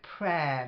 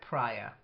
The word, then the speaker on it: prayer: on the second syllable then prayer not like prior prayer uh her not the